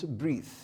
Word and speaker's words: breath: this is the noun there is difference in the spelling and difference in the pronunciation to breathe and this one breath so when you have